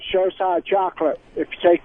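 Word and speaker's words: Xocai: Showside? It's Well, dark that was- chocolate. Showside. It's spelled X-O-C-A-I.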